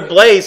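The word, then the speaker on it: Blaise: I'm calling her Blaze Blaze Pascal Blaze Pascal oh Blaze Pascal is spelled not BL a z as they thought BL a a i s e right so yeah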